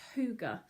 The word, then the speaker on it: hygge: not have seen before and it says it's pronounced hygge and it comes from denmark um and it's